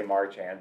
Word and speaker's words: Marchand: I say Marchand, but...